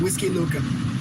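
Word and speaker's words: Huixquilucan: The the name of the city is called Whiskey Luca. And you would have no idea how to spell that. It does not start with a W. Does not start with a whiskey. It starts with an H act actually.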